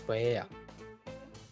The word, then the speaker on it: paella: I can smell seafood, and people are lining up for a taste of bomba paella, but in Spanish it is pronounced as paella.